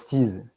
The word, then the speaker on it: seize: Et je pense qu'on prononce seize. S-E-I-Z-E, c'est seize.